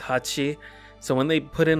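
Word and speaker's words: 八: whatever in Japanese um the number 8 is pronounced Hachi so when they put in a whole bunch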